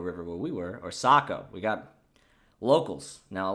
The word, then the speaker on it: Saco: confirmation it's the sako the a is pronounced with an o sound socco river saco so anyways it's like